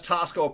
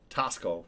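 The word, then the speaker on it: Taxco: Uh, and that's Tasco pronounced or spelled T A Xco Tasco.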